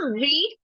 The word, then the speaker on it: read: I have done here read r e a d this is a this a doesn't have any sound that is why it